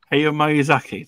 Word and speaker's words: Hayao Miyazaki: Hayao Miyazaki, there you go.